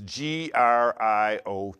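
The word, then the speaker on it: griot: spell that for you it's g r i o t but we don't pronounce the T see Grio were Mass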